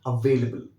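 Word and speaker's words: available: मैं आपको ये बताना चाहता हूं कि this word is never pronounced as अवेलेबल, इट is always pronounced as अवेलेबल। ध्यान रखिएगा, इस वर्ड पे आपको थोड़ा सा स्ट्रेस देना है, बढ़ाना है अपने स्ट्रेस को।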